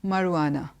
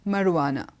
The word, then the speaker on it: marijuana: enunciation is not right the J is not pronounced there so it's marijuana it's not marijuana sure is not pronounced it it's marijuana okay that's fine secondly